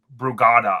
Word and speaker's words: Brugada: course, that he had passed from it was Brugada, I believe is how you pronounce it, Brugada syndrome.